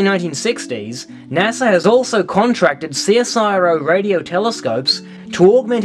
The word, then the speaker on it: CSIRO: Firstly, we in Australia pronounce it CSIRO, not Cicero.